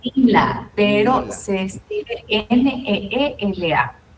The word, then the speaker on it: Neela: pronuncia Nila, pero Nela.